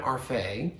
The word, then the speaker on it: Arfay: But one of my dear friends, Tina Arfay, is the inspiration for Dr. Arfay, and she let me mispronounce her last name so that Day rhymes with Faye, rhymes with Arfay.